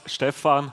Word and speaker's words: Stephan: My name is, in Swiss German it's pronounced Stephan, but Stephen, yeah, don't worry, Stephen is fine.